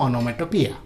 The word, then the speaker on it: onomatopoeia: तो onomatopoeia का उच्चारण वही होगा जो मैं बोल रहा हूँ, onomatopoeia. Okay. और नहीं तो ऐसे सोच लीजिए, oh no, metopoeia. Okay, onomatopoeia.